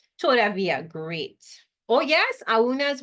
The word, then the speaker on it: todavía: All right, so todavía, accent on the I in todavía, right?